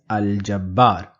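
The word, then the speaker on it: الجبار: us look at aljabar why am I pronouncing the lamb in aljabar if I'm pronouncing the lamb that means that Jim must be in the list of alphabets in and we identify g in that list of alphabets therefore I will pronounce this as aljabar I'm not calling this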